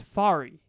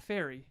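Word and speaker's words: Fary: is my name is fari not fairy not like not like that my name is fari fari here i'll spell it for you f a r y english teachers take note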